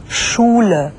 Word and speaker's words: Schule: SCH 슈로 발음되거든요. 한번 직접 들어보시죠. Geschichte. Schule.